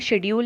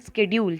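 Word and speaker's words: schedule: तो ये जो पूरा टेबल आपको दिख रहा है, ये table, that is demand शेड्यूल या डिमांड स्केड्यूल, जैसा भी आप प्रोनाउंस करते हैं, दोनों ही सही हैं।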